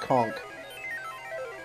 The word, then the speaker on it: conch: uh con shell what is it pronounced conch like a conk on the head last I checked those